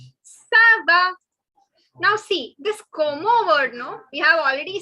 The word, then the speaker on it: comment: Now see, this como word, no, we have already seen up. So please, please, please don't make the mistake of saying comment. It is not comment. It is como.